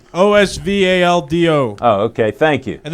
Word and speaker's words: Osvaldo: It's like Oswaldo, but with a V. Osvaldo.